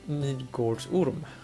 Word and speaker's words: Midgårdsorm: But Midgårdsorm, as we pronounce it in Sweden today, which is probably not how you pronounce it back in the freaking 1300s or something.